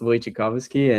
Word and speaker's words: Wojciechowski: But yeah, it's pronounced Wojciechowski, and it's just a bunch of letters.